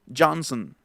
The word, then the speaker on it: Johnson: Y en todos los apellidos que traen al final son, en realidad ya no se va a pronunciar la O, sino va, por ejemplo, a ser Johnson, Lennon, Harrison, Lennon, Harrison,